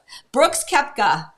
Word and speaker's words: Brooks Koepka: Brooks Koepka.